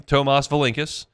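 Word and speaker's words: Tomas Valincius: Tomas Valinkus pronounces his name Tomas Valinkus.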